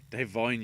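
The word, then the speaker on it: Da'Vine: Considering, you know, Devine, as now apparently it's pronounced, Devine Joy Randolph won like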